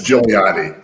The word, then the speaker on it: Giuliani: Just don't look at the second G. That makes it a lot easier. That's right. Because it's an Italian spelling thing.